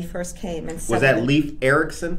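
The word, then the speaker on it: Leifur Eiríksson: And was that Leif Erikson? Leifur Erikson.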